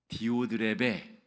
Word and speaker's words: 디오드레베: 이름을 같이 한번 발음해 보실까요? 디오드레베.